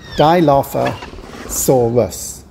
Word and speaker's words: Dilophosaurus: as a theropod dinosaur dilophosaurus has five syllables and it's said like this dilophosaurus thanks very much don't